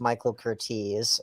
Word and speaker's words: Michael Curtiz: i have to correct you brandon it's actually pronounced michael cortese um i've heard it spoken about for god's